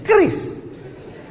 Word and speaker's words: QRIS: Sekarang di pintu-pintu masjid, di pintu-pintu mall ditulis ada namanya QRIS. QRIS. QRIS. Cara bacanya gimana sebetulnya? Kris. Q-nya quick. Quick artinya cepat. R-nya response. Kris, quick response code.